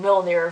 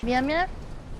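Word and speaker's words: Mjölnir: Or Darcy mispronouncing Mjolnir really badly. Mia?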